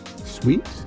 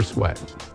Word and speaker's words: Sweat: Sweet? Is it pronounced sweet or sweat? Sweat.